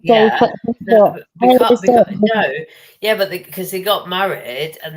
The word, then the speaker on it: Beaufort: I would have said that was like, it might be Beaufort. It's pronounced Beaufort.